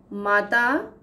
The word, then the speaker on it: मातृ: मातृ, माता, मात्र, केवल। उच्चारण में बहुत थोड़ा सा ही फर्क है मातृ और मात्र, लेकिन अर्थ में अंतर है।